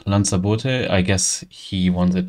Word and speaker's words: Lanzaboote: uh this is called Lans I guess he want it to be pron the GU project owner wants it to be pronounced like the island near Spain called lot and therefore I just